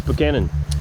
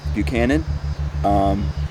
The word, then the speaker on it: Buchanan: What do you think about how we pronounce Buchanan? I think that you're pronouncing it correctly. I know that some of you guys were pronouncing it Buchanan. Very dangerous, could get us killed, because that's not how they say it.